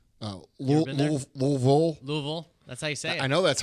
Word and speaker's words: Louisville: Other Lou this weekend which L is that Louisville oh Louisville Louisville that's how you say it I know